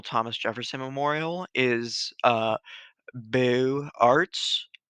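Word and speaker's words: Beaux-Arts: jefferson memorial is uh boo arts which uh is spelled b-e-a-u-x and in french it means beautiful and the um the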